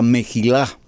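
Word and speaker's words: מחילה: anterior fue la palabra mejilaj describe mejila con j se pronuncia y la mejilada nos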